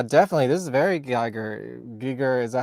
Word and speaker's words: Giger: HR Giger yeah definitely this is very Geiger Giger is that how to pronounce it yeah I work with HR Giger